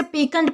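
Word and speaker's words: piquant: अब दोस्तों इसके बाद हमारा अगला वर्ड आता है पिकनंट। दोस्तों, इसे पीकेंट प्रोनाउंस किया जाता है।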